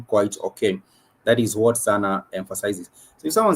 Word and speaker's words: sana: if someone says sana, S-A-N-A, which is sana, the two syllable word sana, S-A-N-A, that means a lot or very, a lot or very.